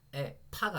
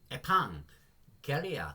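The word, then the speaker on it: ἐπαγγελία: 그래서 에파가 아니고요. 에팡 갤리아 그래서 에판겔리아 약속이 되는 거고요.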